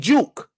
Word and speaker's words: Juke: big uke by big Juke I'm called I called him uke by accident because Jay's pronounced like a y in Spanish I do that sometimes